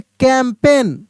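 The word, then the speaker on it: campaign: द कैंपेन क्या पढ़ेंगे कैंपेन ठीक है ना जी साइलेंट है कैंपेन द ओल्ड man smiled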